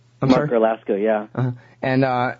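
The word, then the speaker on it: Garlasco: Well, and that's actually part of the narrative of your story is this guy, Mark, help me pronounce his last name. Mark Erlasko, yeah.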